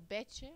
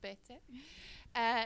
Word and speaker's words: Bete: Before I start, I really want to thank Bete or Betche. I learned now how you pronounce it. In South Africa, she's always been called Bete.